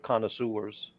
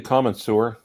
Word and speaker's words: connoisseur: be strictly for watch connoisseurs i think you know for sure who might appreciate it yeah did you call me a common sewer no that's the is not the proper pronunciation connoisseur he said you were a